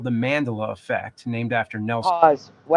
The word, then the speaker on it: Mandela: This is called the Mandela effect named after Nelson. Wow. Mandela. That's that's interesting. Mandela. Yeah. Yeah. Those are those figures. But um yeah, it's not Mandela. It's Mandela.